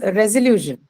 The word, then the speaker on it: resolution: Then comes resolution. Resolution. the second penultimate syllable, Correct. ma'am. That is on lu, right? Solution. Sorry, resolution. So the second last one, that's lu, is going to take the stress because of the presence of the suffix shin.